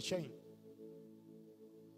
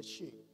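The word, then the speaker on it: Shein: Algunos están haciendo milagros de chain. Realmente no se no se dice, se dice shin.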